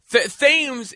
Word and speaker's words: Thames: Thames is the way I like it to be pronounced, but I did like the idea of that, right?